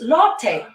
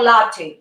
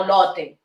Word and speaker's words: Lotte: Lotte. Is Lotte or latte? Latte, no Lotte.